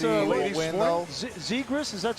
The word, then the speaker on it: Zegras: Zegras, is that how you pronounce Trevor it? Zegras, Trevor yeah. Zegras.